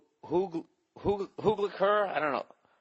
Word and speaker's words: Hugleikur: It's just search I Hate Dolphins, and the comedian's name it's Hugliker. I don't know, Hugliker Dogson, and it's spelled Hugleikur, and his last name is Dagson.